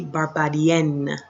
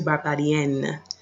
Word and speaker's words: barbadienne: However, females would say je suis Barbadienne. You can hear that N, je suis Barbadienne.